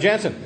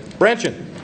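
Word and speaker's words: Brandtjen: Representative Jansen. Branchin. General Branchin. That was putting all it in one syllable.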